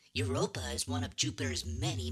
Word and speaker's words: Europa: I'm pretty sure it's pronounced Europe. Tell him, Roberta. Sorry, Hans, wrong guess. No, Jupiter is right. Europa is one of Jupiter's many moons.